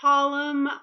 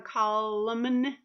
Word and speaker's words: column: column like you say oh I have a column of words all listed to each other you're not gonna hear button sound I don't say I have a column or I don't have a call lemon right but if you see those two together